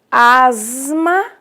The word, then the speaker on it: asma: E aqui, por último, nós temos asma. Olha lá, eu tenho um S, mas que tem o som de Z, então vai ser representado na transcrição fonética pelo símbolo Z.